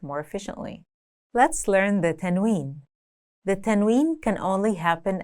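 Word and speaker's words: تنوين: Let's learn the tennwin. The tennwin can only happen at the end of the word, and it's basically a nun sound at the end of a word.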